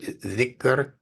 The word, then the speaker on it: dhikr: You have the DH, as you have in the word dhikr, DHIKR.